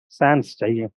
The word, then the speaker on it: sans: among the sand pets Sans s is not pronounce it is silent but it is there without and middle and peasants